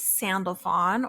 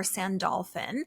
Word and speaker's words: Sandalphon: learn more about him his name is sandalon or sandalin it's like the word sandal so s n D- L and then p h n so sandalon sandalin as you probably know